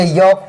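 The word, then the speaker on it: yolk: वाई एल के योक पढ़ना है।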